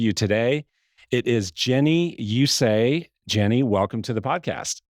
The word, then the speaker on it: Usaj: It's spelled U-S-A-J. And so I'm guessing you get questions a lot about how do you pronounce your last name? That's how you pronounce it. It is Jenny Usaj.